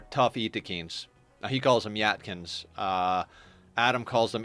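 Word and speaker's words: Yttakin: for ghouls are tough eakins he calls them yatkin uh Adam calls them Eakin and I believe Adam has confirmed with the developers that that is the proper pronunciation is Eakin um but getting a tough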